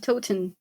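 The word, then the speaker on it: Towton: The battle of Toten. No. T O W T O N. Oh, Tin. Tot. Yeah, that sounds right.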